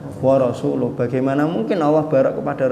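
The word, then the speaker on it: وَرَسُولُهُ: Ayatnya kan dijawab oleh si badui, annallaha bari'um minal musyrikina wa rasuli. Oh, itu salah. Bacanya bukan wa rasuli. Yang betul bacanya annallaha bari'um minal musyrikina wa rasuluh.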